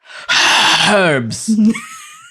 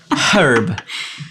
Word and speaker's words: herb: are these they're herbs herbs with an H herb herb it's a silent h herb it's not silent cuz it's Hub there's our unpopular opinion section that's unpopular opinion yeah that's great why would it be a silent h that is ridiculous it is not an herb it is a herb it sounds ridiculous when